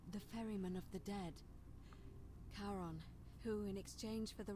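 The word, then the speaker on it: Charon: it's just as you described it only your pronunciation is a little off the name you heard wasn't karen it was c-h-a-r thank you literally spelling it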